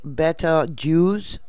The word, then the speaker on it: Betelgeuse: don't think it will I guess it's pronounced better Jews B et tal J oo s that's how it's pronounced it's in the constellation